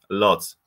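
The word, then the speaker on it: Łódź: university of uh watch in polish pronunciation it is watch in english pronunciation it is lots because we are located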